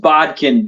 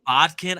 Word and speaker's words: Bodkin: of the way yeah it's just it's just Bodkin b-o-d-k-i-n um yeah Bodkin I've heard bobkin I've heard uh Bodkin yep and then I've heard Boykin which I